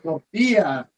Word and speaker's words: tortilla: Anything with tortilla is you got to roll your R's like tortilla.